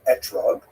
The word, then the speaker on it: etrog: We all know that the correct fruit to bring is an etrog, or esrog in the Ashkenazi pronunciation, but it doesn't say so in the written Torah.